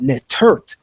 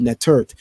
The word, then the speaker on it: netert: So that's why the word for goddess is not simply to say netter, but nettert, the T on the end, right?